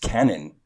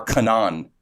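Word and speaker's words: Kwannon: on Twitter is pronounced Canon really by the way yeah or Canan like you don't pronounce the w why anyway I don't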